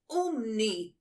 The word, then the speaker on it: Umney: Umi has fainted. Madam, it's pronounced Umni, with an N.